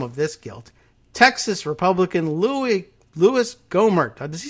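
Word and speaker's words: Louie: I always hear him just as Louis, but I don't think he says it because like French Louis. I think it's just, not a French pronunciation of Louis, but it's his preferred nickname.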